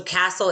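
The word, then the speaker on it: CASEL: term social emotional learning so castle is c-a-s-e-l is how it's spelled it stands for the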